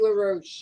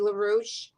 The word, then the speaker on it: LaRouche: And again, I'm Roxy LaRouche, and you forget how to pronounce it. It rhymes with douche.